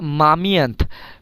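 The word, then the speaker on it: момент: মামিয়েন্ত moment মামিয়েন্ত moment এখানে একটা জিনিস মনে রাখবেন এটার দেখেন রাশিয়ান এই যে অক্ষরগুলো এম ও এম ই এন তে মামিয়েন্থ ইংরেজিতেও কিন্তু এই ঠিক এই অক্ষরগুলোই আছে মোমেন্ট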